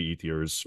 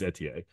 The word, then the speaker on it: Ethier: It's Jeremy Ethiers or Etier. Jeremy Etier. I want it on the record. That's actually how you pronounce it. And us Americans always say Ethier, but it's Etier.